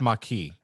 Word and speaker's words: Maquis: It's pronounced Maquis. It's not Maquis. It's Maquis. Maquis. It's the Maquis.